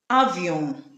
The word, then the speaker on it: avion: Examples we have nature, minutes, avion. N also creates the nasal sounds just like M.